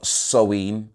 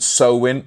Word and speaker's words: Samhain: with the ancient celtic festival of sewein it's not so win it's not spelt like that it's spelled samhain but i think you